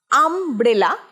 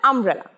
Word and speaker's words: umbrella: আমব্রেলা স্পেলিংটা হয়তো এরকমই দেখায়, কিন্তু উচ্চারণটা আমব্রেলা। আমব্রেলা, বিটা খুব সাইলেন্টলি উচ্চারণ হয়, আমব্রেলা। I forgot to bring my umbrella.